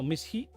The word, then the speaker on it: mis hijos: No, mis hijos. Mis hijos. Hijos with an H. MISHIJOS. Mis hijos. Mis hijos. H is silent.